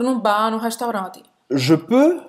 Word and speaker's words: peux: Então, je peux. Je peux. Eu posso. Presta atenção na pronúncia, né? Repete aí, Emile. Je peux. Peux. Peux. Faz a boca do O e fala E.